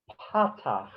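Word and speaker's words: patach: horizontal that's called a pata p a t a c h and i suggest you put a an accent mark on there however you want to do that on the first syllable pata okay uh that we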